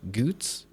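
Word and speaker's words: Goetz: Goots is such a delight, but not spelled that way. Yeah. Yeah. Yeah. I only knew how to pronounce it because it's spelled the way Ruggan is spelled. I'm pretty sure. G O E T Z, I believe. Goots.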